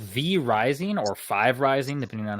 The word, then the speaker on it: V Rising: is interesting it's called V rising or five Rising depending on how you look at it but uh V it looks like V Rising I believe is how it's pronounced and it's a fantasy